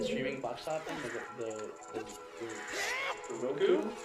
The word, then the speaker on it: Roku: It's Roku, isn't it? Yeah, it's Roku. A lot of people call it the Roku. Oh no, it's Roku, right? It is Roku. It is Roku, but are you sure? yes, it's spelled R-O-K-U. Well, it's Roku. But there's things that are misspelled all the time, or mispronounced all the time. No, I'm just saying, it really is supposed to be Roku, but it always pronounced